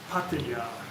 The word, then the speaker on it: Pattaya: wherever you come from pattaya patia who gives a as long as i understand you but in thai language it's pattaya so if that annoys